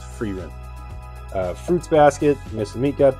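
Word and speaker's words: Frieren: to that we have I think it's called free Rin I just pronounced for you and we were calling it fry run for a while but we changed that up someone told let me in the comments that it was free rent Fruits Basket Mr meat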